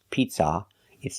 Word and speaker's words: pizza: So when you say the word pizza, remember the second vowel uh uh is a short sound like cup and up, not an open sound, a pizza. It's not a like hot and stop. It's uh like cup and up. Pizza. It's a closed sound for the second syllable. And make sure the stress is on the first syllable. Pizza. Not pizza, but pizza.